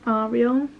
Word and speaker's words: Ariel: Disney and Ariel but it's actually pronounced are real and Emory it means